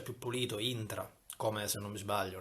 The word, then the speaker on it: intra: di vista, anche se quasi tutta la Sicilia lo pronuncia un po' all'inglese, train, quindi intra.